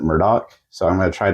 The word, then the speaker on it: Murdaugh: Netflix documentary on these Murdo murders I apologize I'm going to say Murdo a lot because that's how it's spelled to me but they they kind of pronounce it Murdoch so I'm going to